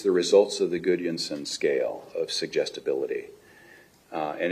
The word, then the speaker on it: Gudjonsson: Yes, it is Gudjonsson. How's my pronunciation?